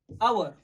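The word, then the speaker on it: hour: आवर, H silent, sound होता है ओ से, एन आवर।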